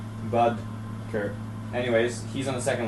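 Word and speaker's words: Boedker: you guys say it's budker it's like I learned it right before that comment came up it's like in between bod and Bud it's like Bud Kur anyways he's on the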